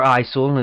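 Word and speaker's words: ICLEI: Once the city council approves and the city manager, who we have now, remember, signs a contract with ICL, or ISIL is how it's been pronounced 2 different times.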